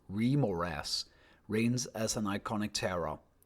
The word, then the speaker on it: Remorhaz: In the merciless frozen expanses of the wastelands in the north, while bliss rage and ground conceals untold horrors, the remaras, pronounced remmoras, reigns as an iconic terror known also as the polar worm or ice worms.